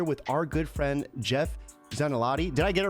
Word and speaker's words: Zanelotti: we are here with our good friend jeff zanelati did i get it right you did you